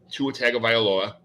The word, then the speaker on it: Tua Tagovailoa: He's got Swift, Keenan Allen, Tua Tagovailoa. I love saying that because I could say it because I'm a Dolphins fan, so I could say it correctly.